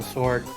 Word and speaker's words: sword: I tend to find myself trying to pronounce the W in sword.